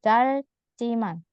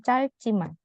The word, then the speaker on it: 짧지만: 짧지만. 짧지만. Kecuali ada vokal 짧아요 bisa. Tapi kalau ini dia bukan vokal, jadi dibacanya 짧지만.